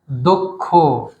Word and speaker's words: দক্ষ: এখন উচ্চারণ হবে কক্ষ তারপরে এই যে দ ছিল কয় স থাকার কারণে দ এর সঙ্গে অ সেই অ টা ও হয়ে যাবে এখন তাহলে কি উচ্চারণ হবে দক্ষ একই রকম লক্ষ অর্থাৎ